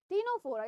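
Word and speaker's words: Ctenophora: Arranged here, Porifera, Coelenterata, टीनोफोरा, इसमें सी silent है इसलिए टू से टी, ठीक है, टीनोफोरा, प्लैटीहेलमिंथस, एस्किहेलमिंथस, Annelida, arthropoda, Mollusca, Echinodermata, Hemichordata and Chordata, ठीक है, ऐसे आप याद कर सकते हैं।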